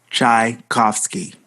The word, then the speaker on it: Tchaikovsky: Tchaikovsky.